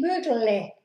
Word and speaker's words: bügle: Bügel, ich bügle, bügle. Me como esa E.